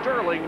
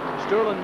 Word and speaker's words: Sterling: or not to G Sterling says that you don't pronounce the G you don't put the